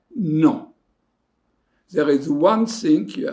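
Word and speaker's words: non: answer negative you say no there is one thing you have to be careful don't pronounce the n the sound is not there is no there is no n uzette angles e so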